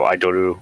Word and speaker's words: Idoru: The person in question is the Idaru. No. What did you say, Sandcastle? It's idol, but with the Japanese accent. So Idoru or Idoru.